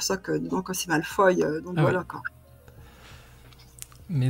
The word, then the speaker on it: Malfoy: Donc, et si vous voulez nous dit qu'on prononce Malfoy, comme ça. Malfoy.